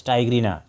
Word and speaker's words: tigrina: And the another name is tyigrina. This name of the species is tyigrina also commonly called as tigrina but it is better to pronounce it as tigrina because it comes from the word tiger.